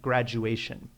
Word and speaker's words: graduation: down a little bit notice that there are you know really four syllables there so make sure that you're pronouncing all of them graduation happy-go-lucky is very nice